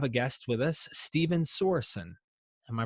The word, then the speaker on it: Sorenson: but we have a guest with us, Stephen Sorenson. Am I pronouncing that correct, brother? Sorensen.